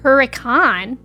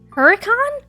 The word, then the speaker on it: Hurricane: You've heard foyer, but you also live in Utah that has a town named Hurricane, but officially pronounce it Huracan. Huracan.